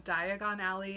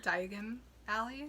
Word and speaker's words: Diagon Alley: oh i always say he also pronounces diagon alley as di as something else i i've never heard i never heard it sounds more like diagonally so diagon alley oh yeah diagon alley it's interesting well we're